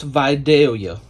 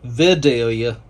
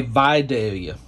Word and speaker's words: Vidalia: That is pronounced Vidalia. A lot of people will say Vidalia, but in the South, in Georgia, we say Vidalia.